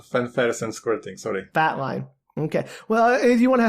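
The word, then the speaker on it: fatline: just realized I mispronounced it's not Flatline it's just fat line right oh fat line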